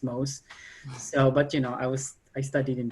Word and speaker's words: Mauss: When I'm pausing because when I was a student, I used to say mouse, but Diana said no, it's Mauss.